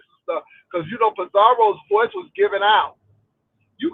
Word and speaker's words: Pizarro: Thank you for letting me up de Miss O to um talk to Pizar roll as that lady said Pizario. I'm like where you get all of these extra syllables is Pizarro.